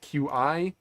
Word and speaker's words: Qi: It is Qi, spelled QI, pronounced Qi as far as I know.